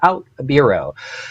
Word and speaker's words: OutBüro: So, and you pronounce it exactly like news, a bureau. So OutBüro.